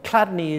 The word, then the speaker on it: Chladni: Chladni, or Chladni, is spelt C H L A D N I, and I think it's Chladni.